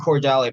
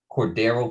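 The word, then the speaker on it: Cordarrelle: I think Cordell Patterson should have won it. I mean, first of all, Cordero, you return a touchdown. Why do you say his name again? Cordero Patterson, mate, Cordero not Patterson.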